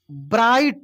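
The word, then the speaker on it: bright: इट इज अ ब्राइट। यहां पे जी H silent है।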